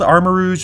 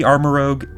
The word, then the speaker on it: Armarouge: Now, it could be Armarouge, but usually Rogue is spelled O-G-U-E, whereas this one is O-U-G-E, which is typically pronounced Rouge, I think. So I think it's called Armarouge, maybe Armarouge.